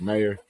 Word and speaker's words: Meier: I was like, "Meyer." Well, and then the revelation that yours is not pronounced Meyer. Yeah, It's Meyer. Meyer.